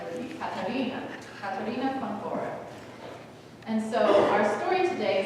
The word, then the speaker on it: Katharina von Bora: And since she's from Germany, her name, if you were to pronounce it in German, would be Katharina von Bora.